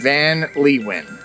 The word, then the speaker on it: Van Leeuwen: I believe that is the pronunciation, Van Leeuwen.